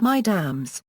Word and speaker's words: Mesdames: Mesdames addresses many women. Pronounced Mesdames.